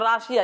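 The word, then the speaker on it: Russia: যেমন রাশিয়া, এটাকে বলে রাশা, এটা কি বলে? রাশা।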